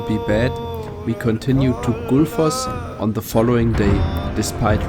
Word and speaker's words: Gullfoss: Also, I am not pronouncing the double L correctly. It is actually pronounced Good. I know so much about this word because it is also a brand of Icelandic beer.